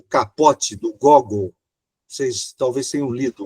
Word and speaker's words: Gogol: o autor Nicolai Gog Alguns falam Gogol mas a pronúncia correta é Gog né o capote tem